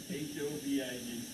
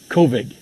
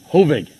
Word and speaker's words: Hovig: How do you spell it? H-O-V-I-G. Hovig. All right, Jadeep Marina Kovig. Oh, Hovig.